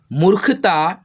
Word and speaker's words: मूर्खता: कुछ उसकी मूर्खता देखिए ये ख पे क्या है, रेफ की मात्रा है और ख पे लगा है रेफ की मात्रा, तो हम लोग ख से पहले आधा र का उच्चारण करेंगे। मूर्खता पर हंसने लगे, जाते